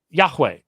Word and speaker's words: Yahweh: pointing for Adonai under Yahweh but think about it Yahweh is a two syllable word Adonai is a three